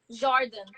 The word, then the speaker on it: Jordan: How would you say my name? In a Brazilian accent, I don't really wait. Jordan. It's like Jaurdan.